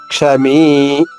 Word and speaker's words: క్షమీ: క్షమీ, ఉదాహరణకి క్ష హ్రస్వాక్షరము, మీ దీర్ఘాక్షరము. క్ష మీ. క్ష పలికిన సమయం కన్నా మీ పలికే సమయం రెట్టింపు ఉండాలి. క్షమీ.